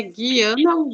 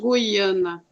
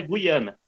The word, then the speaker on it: Guiana: na próxima aula mas ele ia professor se pronuncia guiana guiana é a pronúncia nós brasileiros é que anna nós pros latinos paula lima espanhola e guiana então ela duas pronúncias limpar o brasil com